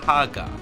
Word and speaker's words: Haggar: typically roll their R's, it would be pronounced in Japan Maiku Haga. With the chanpu at the end of the last name, it causes a long A sound, proving at the very least that the last name is pronounced Haga.